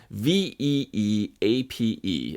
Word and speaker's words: Veeape: Nobody could really pronounce this thing. It's Veeape.